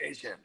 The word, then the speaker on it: Etienne: He's like, listen, it's pronounced, it's not Etienne, it's pronounced Asian.